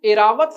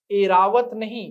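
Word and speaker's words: ऐरावत: उच्चारण भी सुधारना पड़ेगा एरावत नहीं क्या नाम है ए रावत द्वारका बिल्कुल सही शुद्ध शब्द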